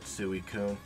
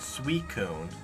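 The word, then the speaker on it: Suicune: for the last one I always call it suikun because it's sui sui and then I know some people open out that sweet cone one two goodbye three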